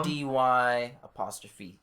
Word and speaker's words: Ody'C: It's spelled Awesome. ODY''C. So Ody'C.